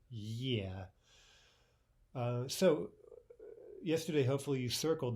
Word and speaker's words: Е: For example, the letter E. It looks like a letter E, right? But in Russian, it's yeah.